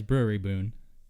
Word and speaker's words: Brouwerij: You got it right to say it's Brewery Boon. You got it right the second time. Well, I said the breweries found in Denmark and Belgium. Well, that's the correct word. Okay. Brewery Boon.